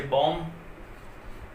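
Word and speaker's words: bomb: आया हुआ बी हमेशा साइलेंट रहेगा, इसको हम उच्चारण नहीं करते हैं। जैसे कॉम हो गया आपका, जैसे बॉम, और भी बहुत सारे हैं, टॉम।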